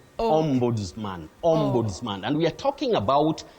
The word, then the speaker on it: Ombudsman: is a great try the only thing is that s takes the sound Z OMS mansman and we are talking